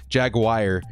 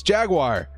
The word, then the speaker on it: jaguar: it english major here you pronounce jaguar correctly jaguar is wrong haha in your face we got a we got an english major behind the director today it's it's jaguar yeah let's go thank you